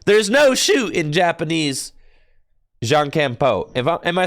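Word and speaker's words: jankenpon: John Campon.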